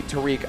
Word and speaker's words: Tariq: chat by the way we asked him how to pronounce his name he said please call me Tariq on commentary you guys